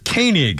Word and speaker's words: Koenig: yeah uh and Walter is a king that's Keening I guess they pronounce k-o-e-n-i-c but it's Koenig is pronounced 87 years old Star Trek guy uh